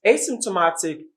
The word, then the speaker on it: asymptomatic: it's a long word so take note the secondary syllable is on simp the primary syllable is on ma so it goes this